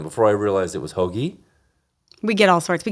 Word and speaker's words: Hoagie: Hoagie is how it's pronounced, but okay, so Hoagie. I go with that, yeah. Like the sandwich?